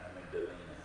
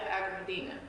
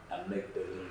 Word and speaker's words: amygdalina: but the scientific botanical name for it is called Vernonia amygdalina. Vernonia agramidina. No, amygdalina. Amygdalina.